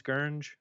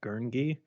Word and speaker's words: Gurnge: So like, I'm thankful that, yes, very few people can pronounce Gurnge, like if they, like don't know, because most people say it's like Gurngi, Mm.